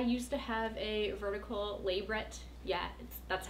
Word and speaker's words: labret: I used to have a vertical labret. Yeah, that's how it's pronounced. It's not labret, because it's not French.